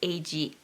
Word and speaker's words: Age: the surface where she meets a guy named AG and yes it is felt like age a GE but it's pronounced AG she meets him and he's not